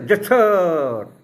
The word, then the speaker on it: যশোর: এখনও সেই রাস্তার নাম আছে যশোহর রোড, লোকে সংক্ষেপে যশোর রোড বলে। আর ইংরেজিতে উচ্চারণ করতে যশোর, তাই নাম যেশোর ইংরেজিতে বলা হয়, JESSOR।